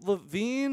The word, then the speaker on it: Levin: Levin. You're not Levine. I did it. I'm that guy today. No. Every day somebody says his name wrong, and it was bound to be my turn in the barrel. Yeah, I'm sorry, Andrew it's Levin. It's fine. Yeah, wow. There's no E at the end.